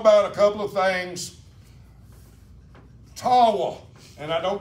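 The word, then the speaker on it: Tawah: a couple of things tawa and I don't pronounce it correctly t-a-w-a-h Tau y it's an Indian name okay it is one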